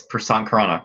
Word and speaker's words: Prasant Khurana: podcast, I'm very pleased and happy to present Prasant Khurana. Am I pronouncing your name correctly? You Yes, are, for the yeah, most people butcher that name. It's Prasant Khurana, correct?